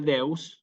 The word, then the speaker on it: deus: si dominus perdón domine deus noster sí fíjense deus o señor Dios nuestro deus Dios fíjense que deus si acentuada en la e y acompañado por la